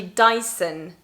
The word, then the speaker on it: Dyson: style your hair and that's in french daison dyson but in english it's actually dyson with an sound not much of a